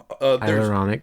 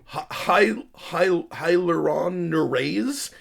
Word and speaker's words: hyaluronidase: But you can inject hyaluronidase, or however you spell it. hyaluronic. No, hyaluronidase.